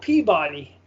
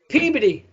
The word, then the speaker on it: Peabody: town called peabody right it's not peabody what do you what do you think it would be it says pea body how do you think that the correct massachusetts pronunciation pronunciation is pobo peabody what peabody you have to say peabody that's some backwoods